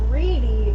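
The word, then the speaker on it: Riede: See, because my maiden name is Reedy, and it's spelled R-I-E-D-E.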